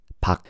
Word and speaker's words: Park: You know, even though it says Park, when you pronounce the last name Park, don't say the R, just say Park.